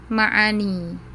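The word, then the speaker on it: معاني: Ada yang ma'ani pakai ain, ma'ani.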